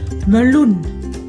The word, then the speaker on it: meloen: Ví dụ meloen, meloen. Đây là một từ có hai âm tiết. Meloen, meloen. Chúng ta thấy chữ này nhấn trọng âm ở âm tiết thứ hai luôn, cho nên âm tiết